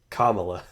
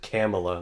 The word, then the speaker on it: Kamala: Kamala. I pulled a Tucker Carlson there. Actually, no. Tucker Carlson pronounced it Kamala, like Pamela.